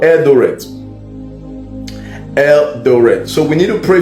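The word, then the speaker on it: Eldoret: but the people knows I'm talking about elder Eldor E L D O R the the pronounce the pronunciation is it right eldor yes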